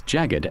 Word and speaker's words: jagged: You pronounce jagged as jagged. Here's a breakdown. Jag, like the beginning of jacket. Jed, like kid, but with a soft G sound before it, almost like gid. Think of it as J-A-G gid.